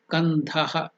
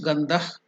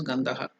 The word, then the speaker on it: Gandhah: We have to pronounce Gandhah. But for ease of pronunciation in South India, they will make it complete as Gandhaha. North India, they will do is Gandhah.